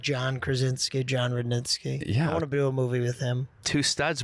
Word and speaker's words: Rudnitsky: it up for sure people I probably would say rude netsky but reddit sees rudnitsky i just decided to